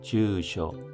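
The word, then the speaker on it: 住所: 참고로 집주소할 때 주소 발음은 주쇼입니다. 주쇼 참고해주십시오.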